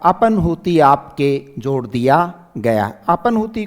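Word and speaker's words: अपह्नुति: अपनूति को आप ऐसे पढ़िए। है आधा है न पूरा है और न है। तो राइट अपनूति इसका उच्चारण भी क्या होगा?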